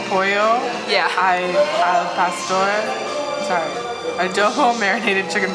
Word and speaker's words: pollo: is fluent in spanish polo alfa store which is adobe we're pronouncing the l's and that's pollo yeah sorry adoho marinated